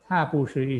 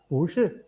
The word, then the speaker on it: 不是: Udah tahu ya perubahan kata-kata bu ini, bu sebenarnya nada keempat kan karena dia ikutin oleh shi, iseng dia kita bacanya bukan bu shi tapi bu shi. Ya punya perubahan jadi nada kedua. Jadi bu shi.